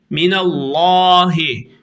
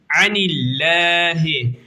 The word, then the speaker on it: الله: olmaya devam edeceğiz arkadaşlar minallahi minallahi Mini Allah lafzını kalın okudum niye kendisi hemen önceki harfin harekesi üstün olduğu için anahi ince okudum hemen önceki harfin harekesi Esre olduğu için anahi anahi anillah Evet artık nun harfini